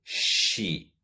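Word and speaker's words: she: él se dice sí ella se dice si entonces se escribe con una s delante de la h s h y lo pronunciamos sí el siguiente pronombre podemos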